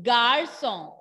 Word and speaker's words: garçon: Le garçon, le garçon. Repeat everyone, G-A-R-C-O-N, G-A-R-C-O-N, garçon, le garçon. What is garçon? Garçon means boy, garçon means boy.